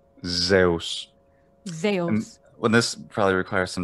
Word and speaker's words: Zeus: to say this but in american english i'd say zeus but in ancient greece when they're at the altar and they're doing sacrifices at dawn they might be praying to zeus well this probably requires